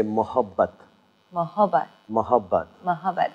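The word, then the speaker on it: मोहब्बत: And if you feel being a little more generous and a little more gentle, then you say mohabbat.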